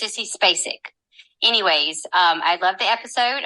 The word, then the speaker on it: Spacek: I literally was screaming when I heard your pronunciation of Spacek.